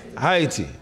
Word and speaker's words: Haiti: And he's a native of Haiti. That's how I said it. Did I say it correctly? Haiti, yes.